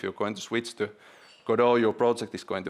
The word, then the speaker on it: Godot: most promising one and that's called godo uh some may call it kot some may call it codo uh all all pronunciations are right uh but I decided